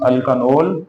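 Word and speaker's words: alkanal: तो यहाँ पे इसको अपने प्रोनाउंसिएशन वाज़ेह तौर पे करनी है, अल्कानाल लाइक एथानॉल, मेथानॉल, प्रोपानॉल। थोड़ा सा फोकस एंड पे देंगे ताकि अल्कोहल के साथ मिक्स ना हो।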